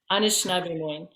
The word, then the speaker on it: Anishinaabe: Anishinaabe. You're going to pronounce all of these wonderful words way better than I can.